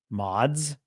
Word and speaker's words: Mads: How to pronounce Mads. Yeah, there you go. Mods.